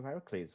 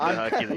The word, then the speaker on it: Heracles: Don't worry, everyone says Hercules. Look, I'm multicultural enough. I'm multicultural enough to pronounce most It is names specifically Heracles because it is the Greek variant.